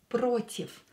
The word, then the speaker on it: против: Here you can hear that this V I pronounce as F. Против. Why? Because voiced consonant as V, pronounced as unvoiced, becomes unvoiced when it's located at the end of the word.